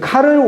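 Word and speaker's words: Karl: 그래서 아까 클로비스를 통해서 496년 이렇게 내려오던 그 왕의 가문이 끝나버리고 샤를은 이제 독일말로 카를이거든요. 이게 불어말로 샤를이고 독일식 발음으로 카를이니까 이 샤를 즉 카를 왕조가 새로 시작해요.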